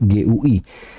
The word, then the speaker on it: GUI: Tulisannya GUI. Cuman orang bacanya GUI.